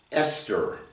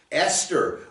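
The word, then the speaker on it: אסתר: It's an aleph, a samek, a tav, and a resh, and it's pronounced Esther. Esther.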